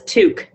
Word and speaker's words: toque: Can you pronounce this for us? That's toque.